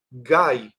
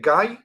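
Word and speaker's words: גיא: Y ese valle se llama en hebreo la la palabra valle se dice gay. Sí, como en inglés se dice gay, entonces en hebreo gay significa valle.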